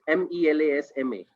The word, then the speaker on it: melasma: It says elasma. It's MELASMA. Yeah, it is melasma. Melasma, right? Yeah, in Hindi, it's called chaya in Bengal, in Punjabi.